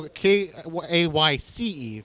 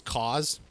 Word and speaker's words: Cayce: I thought it was cause. Like, honest to God, I thought it was just like cause, effect.